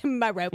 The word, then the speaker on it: Merope: it's Merope. I also Okay, he's coming in hard with the Listen, pronunciations here.